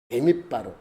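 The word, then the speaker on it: במדבר: 베밋바르. 여러분 요 앞에 하나가 다 글씨기 때문에 그렇게 이해하면 돼요. 베밋바르라고 읽어요.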